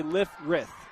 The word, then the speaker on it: Lifferth: I say it instead of Lifferth, I say Lifrith. That's how he told me. Lifrith. Lifrith, all right. Lifrith. It's like Farth. You just move the E in the R.